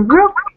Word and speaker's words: work: И вот я обращала ваше внимание, I paid your attention to the fact that вот это вот walk, да, гулять, читается как звук O. А work, работать, там звук R.